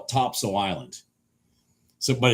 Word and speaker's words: Topsail: It's now for those of you that don't live around here, it's Topsail, all one word, but they call it Topsail. Locals call it Topsail Island.